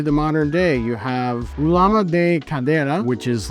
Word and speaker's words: ulama: They have shortened it, thankfully, to Ulama is the modern pronunciation of the game.